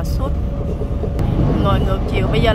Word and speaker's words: sud: South tiếng Pháp nó đọc là sud.